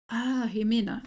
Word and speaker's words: Jimena: Jimena. Okay. Yeah, it's like a J, but with an X. Yeah, Okay. I don't know why we do that, but some people spell it with an X and some people with an J.